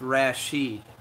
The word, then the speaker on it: Rashid: Oh, it's pronounced Rashid.